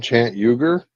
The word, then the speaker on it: Cenk Uygur: Cenk Uygur, that That's his name, Chant Uger.